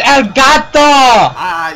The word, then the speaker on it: Elgato: And you're not even pronouncing it right, it's Elgato!